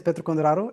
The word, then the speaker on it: Petru Conduraru: Um, my name is Petro Kondaro as you pronounce it very correctly.